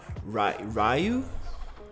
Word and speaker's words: Ryu: I realized that you pronounce Ryu a different way. It's not Ryu. It's Ryu. I think that's how you pronounce it in English, right? Like it's Ryu. Cause I'm pronouncing that in Spanish basically, but in English should be Ryu.